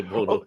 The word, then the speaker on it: Bono: Yeah, Bono, yeah. Dude, I had a fucked up thing happen with that, where an English friend of mine was talking about Sonny Bono, and we were drinking, and like I didn't